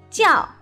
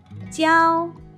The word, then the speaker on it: 教: 那么在这里呢，它有两个读音，一个是第四声调教，一个是第一声调教。